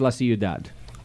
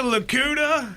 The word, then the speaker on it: La Ciudad: You said it right. I did. It's well, I grew up in Dude, California. the gringos man. in our area are hilarious. I'll take a Lakuta.